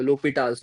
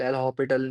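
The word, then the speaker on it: L'Hôpital: दिक्कत आ रही हो, लोपिटाल्स रूल, एल हॉपिटल नहीं होता, लोपिटाल होता है एक्चुअल प्रोनाउंसिएशन, दिक्कत आ रही हो, ठीक है?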